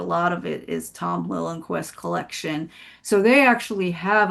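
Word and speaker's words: Liljenquist: It's called Lillenquest. Oh, Lillenquest. Yeah, it's like L I L J E N Q U I S T. So, it's spelled not quite phonetically, but um but he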